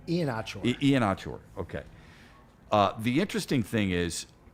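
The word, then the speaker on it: Iheanachor: Ian-Achor, okay.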